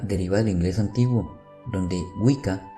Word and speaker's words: wicca: del inglés antiguo donde wika pronunciado wia era el término que